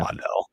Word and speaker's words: Waddle: All right, so again, Jalen Waddle or Waddell, however I pronounced it the first time. Yeah, Waddell.